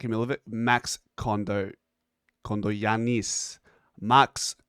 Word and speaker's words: Kondogiannis: Now, Max, I said Kondogiannis, but I was taking the piss.